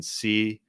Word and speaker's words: Clow: It's Curtis, how you think it's spelled, and then CLOW.